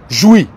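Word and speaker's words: Jouy: tribunal administratif de Paris est aux SEP rues joui SEP rue jou jou s'écrit j o u y 7504 Paris je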